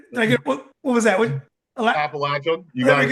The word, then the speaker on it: Appalachian: I appreciate you pronouncing the word correctly. Oh, did I get what was that? Appalachian.